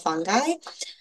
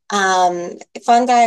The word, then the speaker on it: fungi: Like Tom said, I'm here to talk about mycorrhizal fungi. Fungi or fungi, it really just depends on who's speaking on the pronunciation of that.